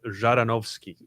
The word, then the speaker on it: Zhadanovskiy: news i want to welcome our guest javanowski to get it close enough pronounce it for us you've had a lot of practice in the last couple of times but it's jaronovsky there you go all right so you've